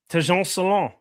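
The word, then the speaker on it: Tidjane Salaün: Tejon Salon.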